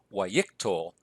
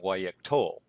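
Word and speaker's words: yiqtol: ictal also notice that the accent has shifted back to the second-to-last syllable so it's y ictal rather than y ik tol and when we write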